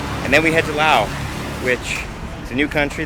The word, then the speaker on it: Laos: But I do know now that it is pronounced Laos and not Lao. It is not a silent S.